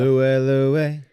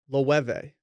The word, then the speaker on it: Loewe: Louie. It's Lou. They pronounced it Loewe.